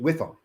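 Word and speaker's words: WIIFM: w i FM and I always pronounce it whiff them what's the whiff them what's in it for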